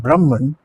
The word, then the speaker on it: Brahman: Advaita Vedanta, and the statement is Atman is Brahman. Atman is Brahman. The correct pronunciation really is Atma is Brahma.